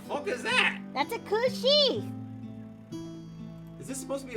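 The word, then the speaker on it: cù-sìth: It's spelled like Cusith, but it's pronounced Kushi.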